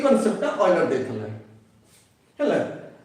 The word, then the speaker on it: Euler: and great mathematician ऑयलर EULER EULER पढ़ी माने ता प्रोनाउंसिएशन अछि ऑयलर हला से already देखथले जे you should it like this pronunciation A type रो हबो बोली कहले आणि एटा को हम कोन पढ़छे O I L दा ऑयल ऑयलर हला सो you should pronounce this one like this ऑयलर बोली हला एंड ऑयलर